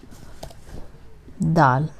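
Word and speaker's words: دال: Dal. This is how it's written, and the pronunciation is Dal.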